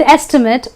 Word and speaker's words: estimate: o'clock is a good estimate of time to be made. So estimate in this case becomes a noun, and therefore the pronunciation of the ate is not ate but an it.